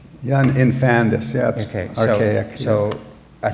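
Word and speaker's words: infandous: even other words I learned Infamous am I pronouncing it right i-n-f-a-n-d-o-u-s infantis yeah infandus yes okay okay so a thing too horrible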